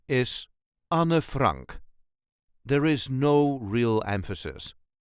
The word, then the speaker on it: Anne Frank: correct Dutch pronunciation is Anna Frank there is no real emphasis Anna Frank Anor Frank on Frank all letters are pronounced at dbook Anna Frank